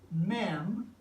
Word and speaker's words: Mem: men and the pictograph looks like this it's pronounced mem and today in our English it is the